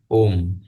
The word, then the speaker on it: ओम्: और ये म पूर्ण नहीं है, ये हलंत है, मतलब ये म पूर्ण उच्चारण नहीं होगा। ओम, म नहीं बोला मैंने, ओम म की ध्वनि उत्पन्न हुई, तो इसलिए ओ और म।